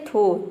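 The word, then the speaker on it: though: डो next word है थो टी एच ओ यू जी एच थो मतलब होता है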